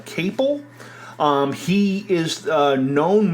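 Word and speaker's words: Caple: And uh this was uh directed by Steven I I think his last name is pronounced uh cable.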